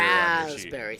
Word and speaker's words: raspberry: raspberry I wrote raspberry Rasberry thank you there's a silent p in there uh We're Men we